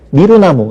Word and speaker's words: 미루나무: 지금 선생님들처럼 또 일반인들처럼 대부분의 사람들은 그냥 미루나무 이렇게 얘기를 해요 그러니까 유가 우로 단모음화 된 것이 압도적으로 많이 쓰이니까 그쪽을 표준어로 정한 거죠 뭐 의뢰 그래 뭐